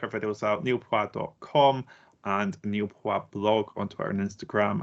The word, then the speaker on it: Niall: name pronounced as n obviously it's pronounced Neil um and you said let me just say Nile because that at least